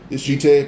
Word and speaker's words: Jitte: Then eventually he would actually be able to grab Smoker's weapon, his Jite. Pretty sure it's pronounced Jite, but spelled Jitte.